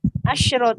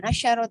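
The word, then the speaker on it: عشرة: ya Ustaz Afan itu bacanya itu asrot bukan asarot ya bukan tapi asr Oh berarti syinnya sukun Heeh berarti khamsa ininya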